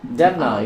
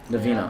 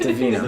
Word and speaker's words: Davina: Devna, you're up next. Davina. on aisle 5. Pronounce my name correctly. Davina.